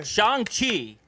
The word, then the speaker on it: Shang-Chi: Shang-Chi, Let's pronounce yeah.